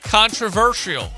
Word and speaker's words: controversial: It's actually controversial.